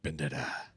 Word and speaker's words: Bandera: Bandera.